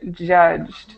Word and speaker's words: judged: worst quality of life okay very good a pronunciation point that I'm going to tell you Eduardo um this word judged judged judged okay right so a lot of